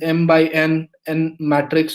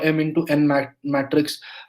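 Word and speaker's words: m × n: So if it is m into n, so it is pronounced as m by n matrix, or m into n matrix.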